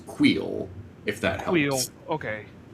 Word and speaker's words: Kuiil: I believe the correct pronunciation is Queel, if that helps.